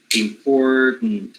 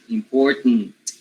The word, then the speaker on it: important: lot of people having a lot of problems pronouncing the last syllable of important while where you know you simply need to drop the the vowel sound and make the syllabic that's it important right so the tn together right important so that that way